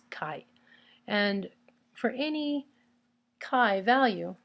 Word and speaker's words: chi: X right and it's spelled CH I so you might call it Chi but its pronunciation is Kai and for any Kai